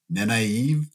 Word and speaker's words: Nynaeve: my head around, all the other Egwene and Nynaeve and what's going on? Wait, how do you say that? Try again. I want to hear that again. No, okay, no, it's okay. Nynaeve.